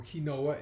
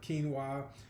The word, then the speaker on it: quinoa: Or kinoa as it's spelled, but quinoa, starchy vegetables, okay, for example, like sweet potatoes as I as I said, and squash, right?